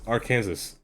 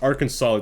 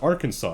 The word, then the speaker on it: Arkansas: so funny it's clearly it's literally said it's our Kansas she's like it's pronounced Arkansas the whole class was just like it's pronounced Arkansas I'm like laughs uh I'll never forget that